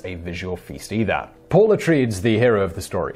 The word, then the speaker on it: Atreides: Paul Atreides, the hero of the story, is Paul Atreides. Not Paul Atreides, but Paul Atreides.